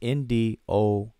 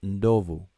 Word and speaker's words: Ndovu: The form among Kiswahili speakers, if written, is NDOVU. When spoken, it's Ndovu. Ndovu.